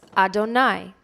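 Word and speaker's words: אֲדֹנָי: word is the yudhav hey to which we pronounce Adonai therefore when you heard me say Adonai Adonai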